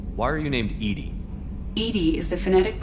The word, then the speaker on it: EDI: is a jar why are you named edie edie is the phonetic pronunciation of e edi that is an acronym